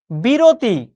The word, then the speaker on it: বিরতি: আমি যখন উচ্চারণ করছি উচ্চারণ কি? জন ননি। বিরতি ক্লাসের মাঝখানে অনেকে বিরতি চাচ্ছিলে।